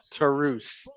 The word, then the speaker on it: Taurus: did Tom say black Taurus yeah yes they've been saying black tarus I've been seeing Taurus this entire time I mean they're they're going with the Spanish pronunciation like Rush is Rouge